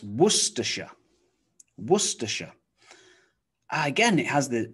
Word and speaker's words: Worcestershire: you try okay it's worcestershire worcestershire again it has the c-e-s-t-e-r so star worcestershire worcestershire and here the s-h-i-r-e is simply pronounced sh sh you might think